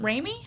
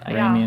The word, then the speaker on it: Raimi: August 2nd through 4th is Flashback Weekend in Chicago Horror Con, which has Sam Raimi? Is that how you say it? Sam Raimi, yeah.